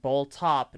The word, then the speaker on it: Boltop: Yeah, Boltop. Yeah. The way he introduced himself is amazing. He says it's pronounced Bull Top, not a cow bottom.